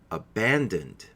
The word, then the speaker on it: abandoned: difficult for some speakers remember that there are still only three syllables here the first syllable is up the second is been and the last is dunt so it ends with a so if you say it all together it sounds like this abandoned please try it abandoned